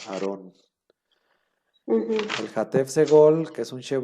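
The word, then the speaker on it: אַהֲרֹן: El Hatef Pataj, que es el Sheva, que lo acompaña un Pataj y siempre se pronuncia como A, ¿no? Como en el caso de Aarón.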